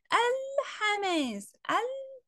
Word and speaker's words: الحماس: الحماس، الحماس، أهو نطقت اللام، تبقى دي لام قمرية.